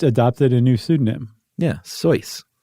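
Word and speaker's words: Seuss: a new pseudonym yeah soyce right s-e-u-s-s again but he pronounced its choice right but he was the only person who did um so he did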